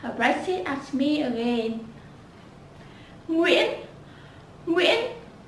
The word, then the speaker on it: Nguyễn: Nguyễn.